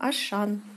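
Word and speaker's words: Auchan: Поляки произносят Аушан.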